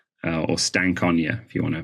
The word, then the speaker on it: Stankonia: of naivity I was listening to outcasts album Stankonia or stank Ona if you want to pronounce it the way it's meant to be